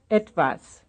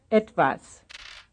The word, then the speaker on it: etwas: Etwas. Etwas. I guess that's the first syllable, right?